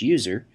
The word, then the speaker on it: usr: by the system administrator, slash usr, often pronounced slash user, which contains software that